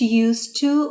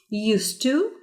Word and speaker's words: used to: Now pay attention how you pronounce used to with D and didn't used to. The pronunciation is the same. Used to. Used to. You don't pronounce the D in used to.